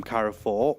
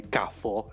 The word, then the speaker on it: Carrefour: And Carrefour, obviously, it's a French company, Carrefour, if we say it properly. Carrefour.